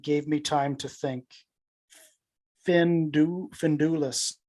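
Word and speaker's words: Finduilas: Findulis. Correct. I might be pronouncing it wrong, but I think pronunciation is Finduilis.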